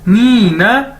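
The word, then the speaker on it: 你呢: ठीक है, उसके बाद है जी हमारे पास नीना, नीना, ये इसको ऐसे प्रोनाउंस करना है नीना।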